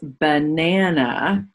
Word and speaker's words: banana: So what's that first A in banana? We have the sound. That's unexpected. I would expect the A to say a or a. But in banana, it's an unaccented syllable.